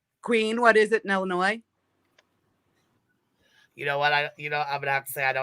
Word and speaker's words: Illinois: you pronounce things conversation Illinois or Illinois it's Illinois absolutely there is no s in that word right but okay queen